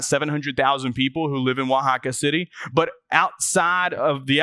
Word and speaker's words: Oaxaca: that's spelled, it is it's spelled just the way it sounds. Wajaka, O Axa.